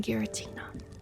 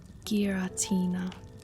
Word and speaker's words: Giratina: It says Gear. It says GEAR-UH-TEE-NA.